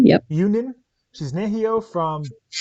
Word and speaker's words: Ewenin: Today I'm joined by Yep, Ewenin. Yep. Ewenin.